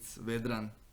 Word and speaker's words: Vedran: And to pronounce my name, you need to say it like a Russian. It's Vedran. It's strong. R.